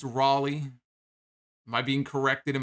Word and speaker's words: Raleigh: am pronouncing is it raleigh it's not rally it's raleigh am i being corrected